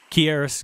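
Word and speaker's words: Keyarris: key RS is that he pronounced his first name here quieres garrett he was a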